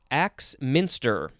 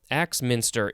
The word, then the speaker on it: Axminster: All right, first word for this episode is Axminster. Axminster. It is all one word. It is spelled capital AXMINSTER. It's like axe monster.